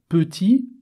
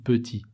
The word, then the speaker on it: petit: Petit, j'entends pas le T. Petit. Petite, au féminin, j'entends le T. Là aussi, ça m'aide à savoir que au masculin, il y a un T.